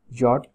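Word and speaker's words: yacht: इफ आई हैड 1 million pound I would have bought a यॉट, इसकी जो pronunciation है वो है यॉट, ये स्पेलिंग इसके गलत लिखे गए यॉट।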